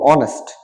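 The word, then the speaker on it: honest: এখানেও এস হবে না ও থেকে শুরু হবে অনেস্ট মানে সৎ অনেস্টি মানে সততা অনেস্টি মানে সততা তো এভাবে আমরা সাইলেন্ট ওয়ার্ড গুলো সবগুলো আত্মস্থ করব আজকে নেক্সট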